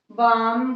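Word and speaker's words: balm: Half, chalk, कॉफ, आलमंड, बाम, Fock, बक, सब में एल को हम साइलेंट रखेंगे.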